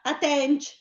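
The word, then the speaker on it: attènc: Allora, attenc con 2 C. Brava. Accenti? È grave sulla E. Brava, attenc, bravissima.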